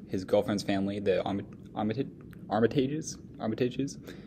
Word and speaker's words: Armitage: as he visits his girlfriend's family the omitted Armitage armitage's how that's pronounced as he continues to his day the